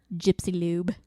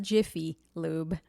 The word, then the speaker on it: Jiffy Lube: mean like cockadryl and gypsy lube yeah not jiffy lube gypsy lube no pronounce that correctly it's